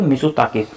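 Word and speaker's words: Mitsotakis: और अगर हम प्रधानमंत्री की बात करते हैं तो वो है यहाँ के क्रियाकोस मिसोताकिस, ठीक है, मिसोताकिस, ता साइलेंट होता है इसमें, तो मिसोताकिस।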